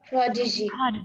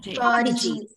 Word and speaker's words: prodigy: Prodigy. Prodigy. Yes, it's a noun with two syllables, so the stress is on the first syllable.